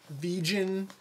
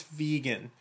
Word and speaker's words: vegan: i mean it's a pretty simple word to pronounce but i've heard everything from vegen to vegan which is the new one vegan i mean the word is vegan and um here's a pronunciation of it from